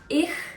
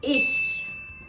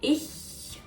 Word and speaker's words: ich: It's not ich, it's not ish, it's ich. I think it's easier to pronounce it correctly when you smile. Ich.